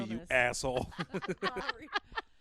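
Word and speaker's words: Maury: Don't make It's fun of mental Maori, you illness. asshole. Maori. It's spelled Sierra.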